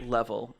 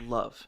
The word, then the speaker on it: LV: Um, actually it's not pronounced level, it's pronounced love.